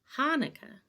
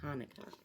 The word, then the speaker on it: Hanukkah: there and then pronouncing hanukkah actually both hanukkah and hanukkah are right the holiday's name is hebrew so there are different ways to spell it and say it in english thanks applesauce says lucy